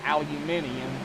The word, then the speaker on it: aluminium: want to pronounce it like pronouncing aluminum we say aluminum everybody else says aluminium I'm getting me started